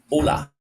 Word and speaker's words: Hola: Now they don't pronounce the letter H in Spanish, so it's just Hola. Hola, Hola, Senor.